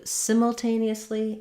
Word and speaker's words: simultaneously: So stress here is on the tain syllable. In British English, they might do simultaneously.